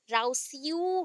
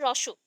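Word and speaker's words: Rousseau: यहाँ पे स्पेलिंग अगर प्रोनाउंस करोगे राउस्यू हो जाएगा, तो ऐसा नहीं प्रोनाउंस करते हैं, रोशो, ठीक है, रोशो।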